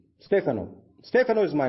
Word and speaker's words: Stefano: Now, Stefano is an Italian name, so you cannot pronounce it as Stefano. It's Stefano.